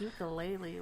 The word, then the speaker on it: ukulele: That's why I'm like, ukulele.